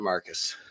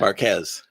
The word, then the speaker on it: Marquez: and only the beautiful thank you Mr Marcus appreciate that Marquez yeah I call you Marcus yeah yeah people call